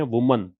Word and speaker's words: WOMEN: WOMAN जो कि singular है, इसको तो बोलते हैं वुमन, और WOMEN है, इसको बोलते हैं विमेन।